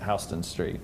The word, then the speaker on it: Houston Street: that's right, Houston Street.